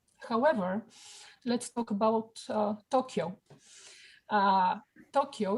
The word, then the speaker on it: Tokyo: Tokyo in Japanese language has 4 on, to, o, because it's a long o, ky is another unit, and then the o, so it's 4 on. In English, we say Tokyo, which is 2 syllables.